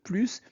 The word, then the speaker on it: plus: Quand plus exprime une négation, on ne prononce pas le s. Par exemple, je n'ai plus faim. Je n'ai plus faim.